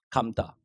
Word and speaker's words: 감다: 감다. 자, 이것은 긴 소리 맞습니다. 하지만 역시 마찬가지 뒤에 모음으로 시작되는 의미가 오거나 아니면 뒤에 사동, 피동 접수가 오면 이건 짧아지죠.